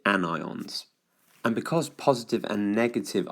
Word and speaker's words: anion: they are called annion because it looks and sounds a bit like onion I've drawn an onion here but you do pronounce it anion and because positive and